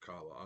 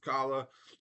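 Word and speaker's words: Calla: They pronounce it Kala. I've always said Kala, but I've never actually, read this one before.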